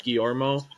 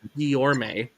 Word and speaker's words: Guillorme: Guillorme. I just want to say Guillermo. That's a name that I've heard before, and so my brain does not let me say it. So I apologize, Mr. Guillorme.